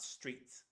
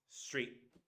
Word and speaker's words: street: See, street with a glottal T, not street, street. And that's okay, it's not lazy English, it's the way we say it.